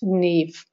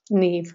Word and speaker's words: Niamh: Niamh and it's pronounced Nev Nev like Eve with an N in front it's an Irish name and that's how it's